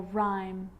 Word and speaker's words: rhyme: And with an R, rhythm, or rhyme.